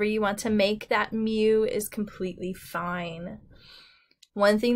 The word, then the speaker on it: mu: letter Mew it's pronounced Mew almost like a kitty cat Mew it looks like a